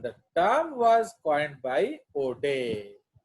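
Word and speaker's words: Oudet: term was coined by O'Day. तो इसका pronunciation है O'Day, not outdated. रश्मि इसको कैसे बोलेगा? Outdated. No, इसको आप बोलेंगे O'Day.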